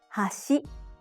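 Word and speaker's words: 橋: high also we have Hashi and Hashi Hashi means chopsticks it goes from high to low hash means Bridge it goes from low to high to differentiate between these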